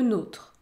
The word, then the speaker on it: nôtre: O ouvert sans accent le deuxième mot contient la voyelle o avec un accent circonflexe et dans ce cas vous allez prononcer le son O ferm écoutez notre le nôtre notre le nôre côte la côte côte la